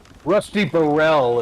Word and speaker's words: Rusty Burrell: was it really his name oh my goodness Rusty Burrell is how they pronounced it but look at how it's yeah